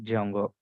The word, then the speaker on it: Django: framework name as Jango they kept like Jango so where D is silent that's why we are calling Jango understanding so this is